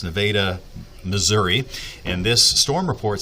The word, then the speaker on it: Nevada: That's how it's pronounced. Nevada, Missouri.